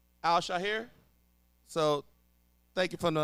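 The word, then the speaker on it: Al-Shaair: Al Shaher.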